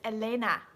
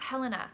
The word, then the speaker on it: Helena: It's not, it's not Helena, it's Elena. She's like, it's not Helena.